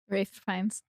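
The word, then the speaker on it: Ralph Fiennes: Rafe fines. Is that an L? It is. That's how you spell it. It's Rafe Fines.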